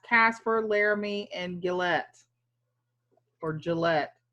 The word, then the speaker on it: Gillette: Laramie and Gillett for Gillette say it like the razor why Cheyenne is special